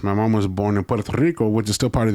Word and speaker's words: Puerto Rico: You say it like an American. So, my mom being from Puerto Rico, I rolled my R's extra and I went Puerto Rico.